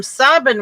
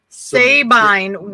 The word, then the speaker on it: Sabine: they can get married but anyway the term sovereign women was their mispronunciation of sabine women which was from a roman story and